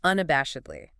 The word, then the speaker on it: unabashedly: Okay, now for unabashedly. U-N-A-B-A-A-S-E-D-L-Y. Whoa, 5 syllables. Unabashedly. Stress on the third syllable.